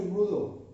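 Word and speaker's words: rouleaux: আমরা যেটা পড়ছি সেটা হচ্ছে রুলো ফর্মেশন, এটার উচ্চারণটা হচ্ছে রুলো, ঠিক আছে?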